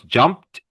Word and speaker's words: jumped: Jump becomes jumped. It has a PT sound.